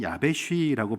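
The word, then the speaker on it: יָבֵשׁ: 수치를 당한다는 단어는 에보슈라고 발음을 하는 단어이고 그리고 말라버린다는 단어는 야베쉬라고 발음하고 있습니다.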